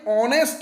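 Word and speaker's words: honest: অ্যান অনেস্ট ম্যান, এখানেও এইচ দিয়ে শুরু, কিন্তু এইচটা সাইলেন্ট, ভাওয়েল সাউন্ড পাচ্ছি অনেস্ট, তাই এখানে এ না হয়ে অ্যান হলো।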